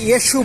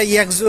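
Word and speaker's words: 越秀: সো আমি চলে আসছি ইয়েশু পার্ক। উচ্চারণটা ইয়েকজু না, আমি ভাবছিলাম ইয়েকজু হবে, ইয়েশু পার্ক। তো আমাকে একজন বললো যে B1 দিয়ে বের হলে পার্কটা পাওয়া যাবে।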